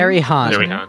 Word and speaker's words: Ariane: How do you say her name? Arihan.